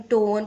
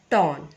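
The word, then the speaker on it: torn: बहुत लोग इसको भी टॉर्न टोन प्रोनाउंस करते हैं, बट the correct pronunciation is टॉर्न।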